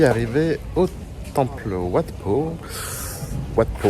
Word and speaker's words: Wat Pho: Wat Po, ouais, c'est ça, j'ai bien prononcé.